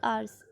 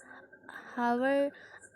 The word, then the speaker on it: hours: और फॉर 4 आवर्स, HOURS हावर होता है, लेकिन इसका करेक्ट प्रोनाउंसिएशन है आवर्स, तो हम ऐसे बोलते हैं शी has been studying for 4 आवर्स।